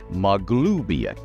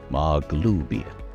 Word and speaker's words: Maglubiyet: who are speaking common, you will hear this pronunciation, Maglubiyet. Maglubiyet. And anybody who worships or is a cleric or shaman of the deity, if they hear Maglubiyet, they know that it is somebody speaking of their deity. They may also know, oh, that doesn't really worship. Uh-huh, got it. Believe me, the deity hears that pronunciation too.